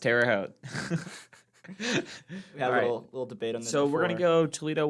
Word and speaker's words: Terre Haute: 6K over at uh Tara Terre Haute it's pronounced Terre Haute so we're gonna go Toledo woman uh they've